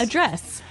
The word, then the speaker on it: address: So, the verb address has the the stress on the second syllable.